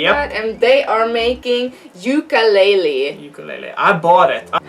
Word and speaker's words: Yooka-Laylee: how do you pronounce that? Yooka-Laylee? Yooka-Laylee.